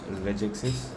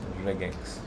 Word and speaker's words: regex: Okay, JavaScript has multiple ways to use regexes. Yeah. Is there a way to pronounce this? I'm sure there is. It says regex.